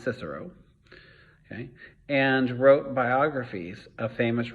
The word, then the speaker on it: Cicero: roman writers like cicero which will look like kikaro but it's actually pronounced cicero and wrote biographies of